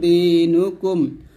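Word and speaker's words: دِينُكُمْ: পেশ নু দিনু কাফ মিম পেশ কুম লাকুম দিনুকুম ওয়াও জবর ওয়াহ লাম জের লি ইয়া জবর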